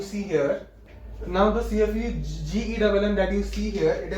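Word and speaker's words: CFU-GEMM: The myeloid stem cell is going to produce one progenitor cell, okay, one progenitor cell, that is CFU GEMM, don't pronounce it GEM, it is GEMM, and while this LSC, it is going to produce colony forming unit for lymphocyte, that is CFUL.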